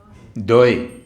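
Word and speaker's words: দই: So it was a time for dahi, or dahi. How do you say in Bengali? Dahi. Doi, yes.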